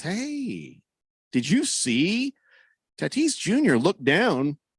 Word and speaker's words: Tatis: So he starts with Tatis Jr.